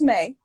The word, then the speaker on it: Maeii: to pronounce it but it's pronounced may like the month i got that name